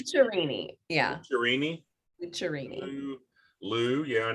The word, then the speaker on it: Lucciarini: So the American version or the Kansas version is Lucciarini. But if you want to get authentic and you want to roll your R's and have fun, it's Lucciarini.